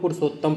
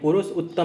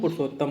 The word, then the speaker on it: पुरुषोत्तम: उच्चारण की दृष्टि से हम लोग पुरुषोत्तम पढ़ते हैं, पुरुष उत्तम ना पढ़ेंगे, उसको हम लोग पुरुषोत्तम बोल देते हैं।